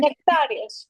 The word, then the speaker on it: Nectarios: There's a really good movie called Man of God that is about the How do you say Nectare Nectare Nectare Nectare Nectarios.